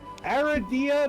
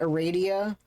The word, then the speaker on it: Aradia: Some people pronounce it aradia, but like it's rad. It's Aradia. Aradia. It's Aradia. I just said Aradia cuz she's rad.